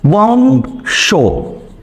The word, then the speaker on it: বংশ: অনুস্বার থাকতে আমাদের উম ব্যবহার করতে হবে। অনুস্বার থাকতে কি বলবে? উম। যেমন দেখেন বংশ, দুঃখিত বানানটা হচ্ছে, বানানের ক্ষেত্রে হচ্ছে বংশ বানান। এখন দেখেন এখানে আমাদের অনুস্বার আসলো কিনা, অনুস্বার আসলো কিনা, এই যে অনুস্বার। তাহলে অনুস্বারের জায়গায় কি বলবে? উম বলবে।